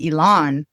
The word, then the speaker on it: Elan: So, you asked while we were offline as well how to pronounce my name. My name is Elon and my full name